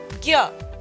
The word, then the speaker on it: ज्ञ: तो ये जब हम पढ़ते हैं तो संस्कृत में अगर इसका उच्चारण होगा, इस अक्षर का अगर संस्कृत में इसका उच्चारण होगा तो बोला जाएगा न्या। परंतु यदि हम हिंदी में इसको पढ़ रहे हैं तो हम पढ़ेंगे ज्ञ।